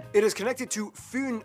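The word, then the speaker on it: Fyn: it is connected to foon island not fin island by the great belt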